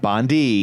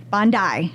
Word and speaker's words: Bondi: Junction that's right RZ I listened to the pronunciation you sent me Bondi not Bondi not bonde which is what I would have said that's totally what we would have said Bondi Bondi and uh and